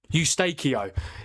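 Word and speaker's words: Eustáquio: How do you pronounce that guy's name? Ustakio.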